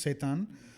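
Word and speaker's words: seitan: yeah but it it's it's spelled s e i t a n it's pronounced satan so satan is basically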